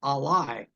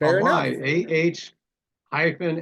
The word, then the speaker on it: Ben Ali: actually it has been Ali is how you pronounce this race it's Al ah hyen l i e first run in 1917